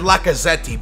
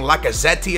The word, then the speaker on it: Lacazette: I think it said Lacazette, but I just call him Lucaze.